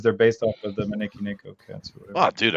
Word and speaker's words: Maneki Neko: Matt is the Maneki Neko master.